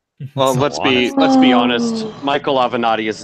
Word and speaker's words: Avenatti: Avenado, is that how you say it? Avenatti.